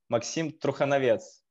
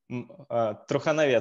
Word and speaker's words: Trukhonovets: So in Belarus, we pronounce it Maksim Trukhonovets. Trukhonovets, second name. So in English manner, you can pronounce it Trukhonovets. So first part of it, it's true.